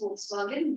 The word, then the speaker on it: Volkswagen: Volkswagen was, that is Volkswagen was, yeah, the pronunciation is Volkswagen. V is pronounced as F in Germany. So Volkswagen, that started during that time.